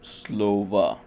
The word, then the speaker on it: Слово: The vowel after the stress is likewise pronounced as a ə as you can hear in the word Слово.